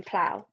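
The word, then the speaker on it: plough: word aloud and again what you hear is usually hard to spell it P L the AL you hear will always be o u g h p l my turn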